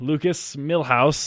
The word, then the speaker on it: Lucas Millhouse: their mics so they have power we have Lukas Milhouse is that the correct way to say your